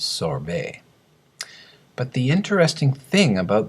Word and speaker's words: sorbet: Actually, the correct French pronunciation is sorbet.